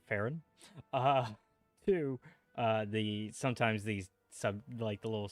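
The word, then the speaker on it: Faerûn: One, I think it's weird how they pronounce Faerun. They pronounce it Farron.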